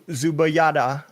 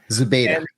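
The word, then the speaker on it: Zubaydah: So, Abu Zubayada, I know I said his name, his last name wrong. Zuba.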